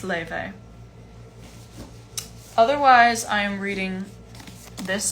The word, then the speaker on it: Laufey: enjoy it how do you pronounce lev it's pronounced leyvey otherwise i am reading this book sally rooney